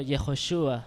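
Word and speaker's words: Yehoshua: misma persona o sea que la que se pronuncia en hebreo yehoshúa which is yagües saves que significa salva desde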